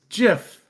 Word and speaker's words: GIF: Hard G. Hard G. It's GIF.